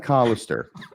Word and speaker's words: Collister: mean that t and it's collister by the way you habitually mispronounce his last name I think I've corrected